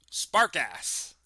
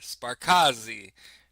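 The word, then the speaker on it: Sparkasse: They drilled through a thick concrete wall at a branch of uh spark ass p a r ks. Sparkass. Um, in the western that's not how you pronounce that. Sparcazi probably and gelen kurchchurchin.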